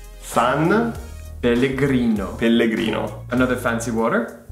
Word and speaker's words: San Pellegrino: But we pronounce it San Pellegrino. San Pellegrino.